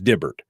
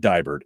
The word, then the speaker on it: Dibbert: So it's Dibbert, not Dibert. It's Dibbert.